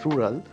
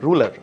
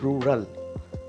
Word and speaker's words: rural: at times mispronounced as ruler as in r-u-l-a R but the real pronunciation of this word is rural Rural right so the r sound needs to be produced in a proper manner the next word would